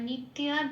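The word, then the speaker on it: नित्या: তারপরের শব্দটা আছে নিত এবার নিত্যার জন্য হবে নিত্যার জন্য হবে জফলা আছে এজন্য লাল দিয়েছি এক নম্বরে তালিকাভুক্তটা করে দেওয়া আছে জফলা থাকলে হসই প্লাস অন্তস্ত হয় এখানে যেহেতু ত জফলা আকার আছে সেজন্য হসই প্লাস অন্তস্ত আকার উপরের ব্রাকেটে দিলাম এবার ত এর সাথে এই হসই প্লাস অন্তস্ত আকারটা পুড়িয়ে দিলে যে উচ্চারণটা বেরিয়ে আসে তিয়া ঠিক সংস্কৃততে সেই উচ্চারণটাই হবে তাহলে কি পেলাম আগমা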